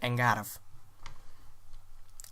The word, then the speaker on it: Eingarf: The name of the blaster, Eingarf. The first part is an A sound. The R is rolled and the F is like a V. So that's how you pronounce it, Eingarf.